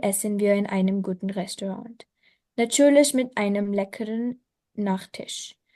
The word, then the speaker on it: Restaurant: Abend essen wir in einem क्योंकि guten पता है इसका रीजन, ये Restaurant. फ्रेंच वर्ड है, फ्रेंच लैंग्वेज से आया है ये। तो फ्रेंच में जो लास्ट लेटर होता है उसको प्रोनाउंस नहीं करते ना।